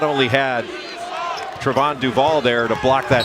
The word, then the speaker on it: Trevon: folks at Duke that his name is actually supposed to be pronounced Trevon, not Trayvon or Trayvon.